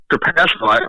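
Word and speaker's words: Trapasso: Yeah, Trapaso.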